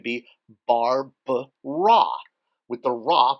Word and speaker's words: Ra: we notice that the first glyph is raw the sun R A the little three Mark being the ah pronunciation Mark which we talked about